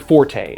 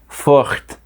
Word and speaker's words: forte: Let's compare this to the word forte, as in linguistics are not my forte. Technically, that word should be pronounced fort, or more accurately, in a French accent with that weird R sound that I can never properly get down.